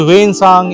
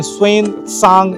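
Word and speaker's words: 玄奘: लोगों के लिए तो हम बोलते हैं वेनसांग यहां पे स्वन सांग स्मृति भवन लिखा हुआ है। ठीक है? तो शायद यही इसका सही प्रोनाउंसिएशन होता होगा और मैं चाहूंगा कि ये बिल्डिंग को थोड़ा सा दिखाया जाए।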